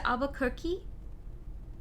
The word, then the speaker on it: Albuquerque: you pronounce that how why do you write it with a q-u-e twice and then you say albuquerque like it would rhyme with turkey what alba cookie alba